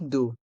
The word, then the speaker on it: d'eau: Une carafe d'eau. Une carafe d'eau. Les lettres E à U se prononcent O, comme la lettre O.